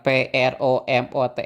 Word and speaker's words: promote: di awal tadi, yang PROMOTE itu ya, mempromosikan. Oke, itu kebetulan kata itu terdiri dari dua suku kata dan suku kata yang di stress itu, the stressed syllable falls on the second syllable.